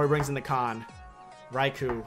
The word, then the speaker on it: Raichu: his options are Garchomp raicho Gyarados or he brings in the con Raichu I can't pronounce that thing to save my life H it's Raichu okay okay cool interesante what